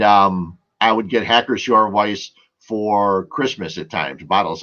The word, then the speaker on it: Weiss: People would see it as Weiss. In German, the W is pronounced as a V, so it's Weiss.